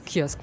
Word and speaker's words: kiosque: se diz kosc em francês mesmo com a pronúncia kos kosc kiosque kosk kos kiosque muito bem Vamos aos positivos e negativos da